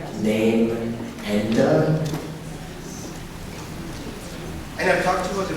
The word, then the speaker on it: Namenda: It's also called Namenda, Name-enda.